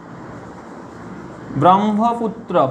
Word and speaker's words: ব্রহ্মপুত্র: আরো উদাহরণ দেখো, যেমন ধরো ব্রহ্মপুত্র, ব্রহ্মপুত্র, এটা কি উচ্চারণ হবে, ব্রহ্মপুত্র নয়, এর উচ্চারণ হবে ব্রহ্মপুত্র, ব্রহ্মপুত্র, এর উচ্চারণ হবে পুত্র।